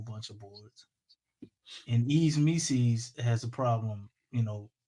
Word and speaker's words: Missi: It's one of them things where Mises rhyme with Reese's. Is that what's going on here? If that's what you like, that's what you into, bro. It's Yves Mises, bro, not Mises.